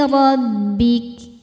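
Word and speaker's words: رَبِّكَ: Ayati rabbik. Ro dibaca tafkhim karena barisnya fathah, maka ro tebal.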